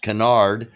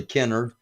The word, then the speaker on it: Kennard: tornado swept through Kennard Kennard often pronounced Canard yeah for those that don't know not in the know but it was actually Kennard uh and and the